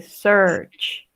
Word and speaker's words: search: Y aquí en search no se pronuncia la A, solo dice search.